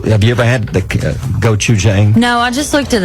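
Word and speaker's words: 고추장: You may know how to pronounce this. I do. Okay, how do you say it? Gochujang.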